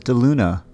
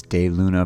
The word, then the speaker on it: DeLuna: at de luna and i know it says de luna but it is day luna pronounced de luna because it's whatever over spanish uh history i guess that's how